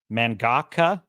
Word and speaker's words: mangaka: How to pronounce? I mean, it looks like mangaka.